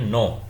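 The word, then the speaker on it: know: वो का होता है जैसे ये हो गया काइट और यहां पर कुछ में साइलेंट होता है जैसे ये है नो और यहां पर के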